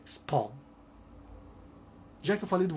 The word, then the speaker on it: Spawn: Tem gente que falava Spam ou Spalm. A pronúncia é Spawn.